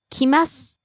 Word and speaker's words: 来ます: Rising on the second syllable ma, falling on the last syllable su. 来ます。来ます。というふうに、を強く言わない方がいいと思います。 So don't hit the u in the last syllable of su.